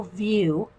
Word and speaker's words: Wiuff: We colored a little mermaid out of the Gardens and Goddesses coloring book from Mitzi Sato View. It's spelled Wiuff, and so we colored